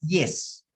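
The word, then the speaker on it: ΙΗΣ: Es una palabra griega que se pronuncia yes.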